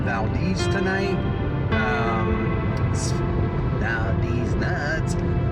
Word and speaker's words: Valdez: stop I've made so far so thank you Valdez and just so you know it's pronounced Valdez here I am at the gas station slashing